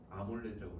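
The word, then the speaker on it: AMOLED: 그래서 이걸 어떻게 써요? 아몰레드라고 읽었어. 그냥 아몰레드라고 읽었어.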